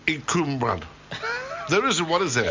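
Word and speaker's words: Cwmbran: It's Cumbran. Cumbran, South Wales. Cumbran. Excuse me. Not Canberra.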